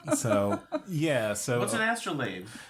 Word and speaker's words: astrolabe: Astrolabe? Yeah. That's there's that word again. What was that again? Astrolabe. It's how it's pronounced.